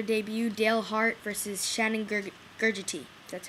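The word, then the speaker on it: Gugerty: 2 fighters making their debut, Dale Hart versus Shannon Gurgity. That's how you pronounce it.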